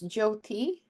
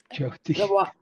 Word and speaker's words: Jyoti: So it's Jyoti. Jyoti. Yeah, Y is silent.